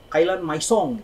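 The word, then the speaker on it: Kalyan Maison: Bacanya kan Kailan Maisong gitu kan.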